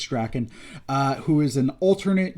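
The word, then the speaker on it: Drakkon: comic this is uh lord drakken or dracone i've heard it pronounced both ways i believe it's draken uh who is an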